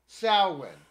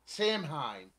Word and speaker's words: Samhain: pronounce irish words wrong and i know like salwin people pronounce it samhain it is not samhein it is salwin oh i've heard sam hayne